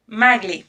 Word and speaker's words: Magle: say your name properly maggle maggle maggle it's a hard G okay I never know cuz there are some languages where it's a soft G and like in Turkish